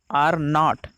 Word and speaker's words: R0: पुनरुत्पादक संख्या यानी रिप्रोडक्शन नंबर यानी RO, जिसका उच्चारण R0, ठीक है, R0 के रूप में किया जाता